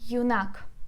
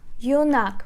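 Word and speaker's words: юнак: Yunak. Let's put a stress together. Yunak. Yunak. We put stress on a. Так, and let me write the transcription for you. It's yod, u, n, a, and k. So again, we divide this word into 2 syllables. 2 syllables. Yunak. Yunak. We put stress on the second syllable.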